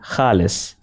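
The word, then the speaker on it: خال: Now this sound is different from the common Urdu Hindi sound K, written with the chashmi-he. In Urdu, khal with a Kh means black spot on the face, but kal means skin. So see, a small difference can make such a huge difference in meaning.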